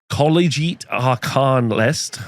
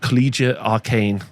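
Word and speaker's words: Collegiate Arcane: running a cities of sigmar collite aranist uh I've said that wrong collia arcane that's the right way to say it wrathful cycles in intercept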